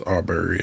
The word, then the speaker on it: Arbery: Am I pronouncing it right? I believe it's Arbery, yes.